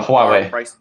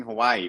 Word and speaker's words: Huawei: thing is this uh who i is that how you pronounce it they have their self-tracking huawei huawei yeah that's right they have i keep thinking hawaii because i you spell it's a little bit like that but uh huawei they